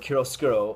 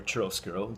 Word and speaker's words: chiaroscuro: interview and, for example, the word chiaroscuro, or chiaroscuro, depending on how you want to pronounce it, everybody corrects it differently, is a word within